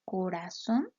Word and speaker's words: corazón: sílabas en este caso la palabra corazón sabemos que suena más fuerte en son porque está tildada por